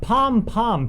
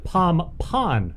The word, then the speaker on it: pom-pon: And it's not pom-pom, P-O-M-P-O-M. It's pom-pon, right? It's spelled that way, yeah. I never knew that. It's P-O-M-P-O-N, but we called it POM.